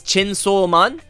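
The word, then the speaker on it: チェンソーマン: So, how Chainsaw Man is pronounced is Chensou Man, and for War Woman would be Sensou Woman.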